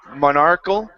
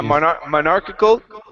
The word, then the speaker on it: monarchical: rule of a monarch monarchal government rule of of a monarch Monarch it should be K yeah monarchical yeah so it's it has the extra extra sound in there soar rule of